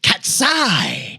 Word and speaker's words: Cat'Sai: And an Elektra Catwoman mashup named Cat'Sai, but that's an S-A-I, get it? Because she has size. Like cat, Sai.